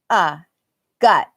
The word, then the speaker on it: gut: That's an sound. Gut. This is God. Oh wait, no, I'll just say got and gut. This is got. This is gut.